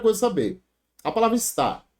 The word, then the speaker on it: está: A palavra está. Qual é a sílaba tônica dela? O que é oxítono? É quando a sílaba tônica recai na última. Então, está. Tá aqui, ó, está oxítona.